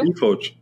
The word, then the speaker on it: eFORGE: Now, do you pronounce it eFORGE and FORGE2? Yeah, eFORGE.